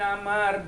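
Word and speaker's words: عمرو: Wa Abdullah bin Amr bin As anin Nabi sallallahu alaihi wasallam. Jadi kalau kalimat ya santri, kalau lafaz Umar ada wawunya bacanya bukan Umar, Amr. Kalau nggak ada wawunya bacanya Umar.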